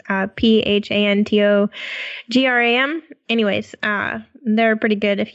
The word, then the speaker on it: Phantogram: It's Phantogram.